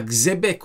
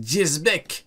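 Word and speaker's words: Xebec: Ah oui, c'est vrai, on avait vu que du coup le X, c'est pas X, c'est Jez. Du coup, c'est pas Xebek ou Shebek, c'est Jezbek. Il y a 1000 prononciations différentes pour ce foutu prénom.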